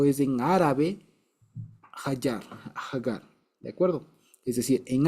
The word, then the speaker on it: Hagar: este lado es que aggar en hebreo se dice hagar no se dice Agar sino hagar y resulta que eh